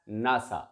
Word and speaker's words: NASA: And if we take the first or initial letters of every word, of every keyword, NASA, it becomes NASA, and we can pronounce it as NASA.